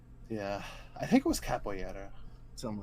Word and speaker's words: capoeira: I think it was capoeira. Something like that. I'm sure. Capoeira. Huh? You pronounce it capoeira. Oh, really? Yeah, the R is like one of those like RY sounds.